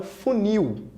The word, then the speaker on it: funil: intensidade é a última como é o caso da palavra funil full mil a sílaba que você pronuncia com mais intensidade é essa aqui então é um óxido tona nós vamos trocar o